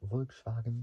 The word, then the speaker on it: Volkswagen: So Volkswagen, I think I said it right in German. Volkswagen. That's how. Instead of a V, it's with an F at the very beginning. So Volkswagen.